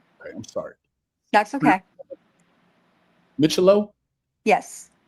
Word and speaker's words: Micciolo: Micciolo. Okay, I'm sorry. That's okay. Micciolo? Yes. Micciolo.